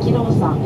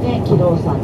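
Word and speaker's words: 亀老山: このキロウさん、亀という字に老人の老に山と書いて、キロウさんと言いますけれど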